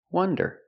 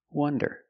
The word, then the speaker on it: wonder: and up uh uh this is a closed relaxed sound uh uh w one one one like a number one one wonder wonder the word wander with